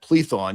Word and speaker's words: Plethon: And I think you meant plethon. You mispronounced it, but plethon was an atheist platonist in Bzanthium.